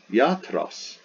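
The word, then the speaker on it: ἰατρός: The Greek word for doctor, iatros, iatros, iatros. So it's ya and tros, 2 syllables, not 3.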